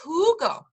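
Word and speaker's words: jugo: uh or kid is Hugo Hugo means juice again that J is going to make the H sound kid is Hugo do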